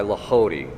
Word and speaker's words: Lehodey: If you want a greater understanding of how to meditate, the book The Ways of Mental Prayer by Lahody, that's spelled Lehodey.